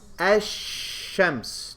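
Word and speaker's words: الشمس: it right it's present what about the next word how do you pronounce it as shemp's do you hear the lam do you pronounce the lam it's as if it's not there correct okay all this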